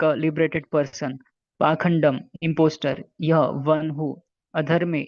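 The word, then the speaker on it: pākhaṇḍa: Purport: The word Pakhanda used in this verse is sometimes pronounced Pashanda.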